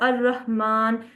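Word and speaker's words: الرحمن: किस तरह इसका पैटर्न इसकी नोयर रहमान कैसे प्रोनाउंस होता है अर रहमान तो इसी तरह आपको अरेबिक में और वर्ड्स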